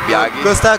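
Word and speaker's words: Biaggi: Okay, so if you are playing against Biagi, that's how you pronounce it, Biagi.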